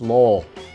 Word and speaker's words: Lowell: It's pronounced Lowell.